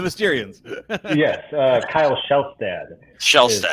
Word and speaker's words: Shelstad: is Shelstad. how All it's right.